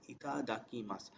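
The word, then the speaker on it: いただきます: So before starting the food, we always call, we say that itadakimasu. It's pronounced as itadakimasu.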